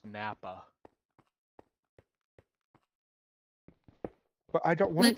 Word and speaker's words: NAPA: Uh reminds me of the time you were on the NAPA and the dude was silly like she like I'm going to go out. It's pronounced Nappa.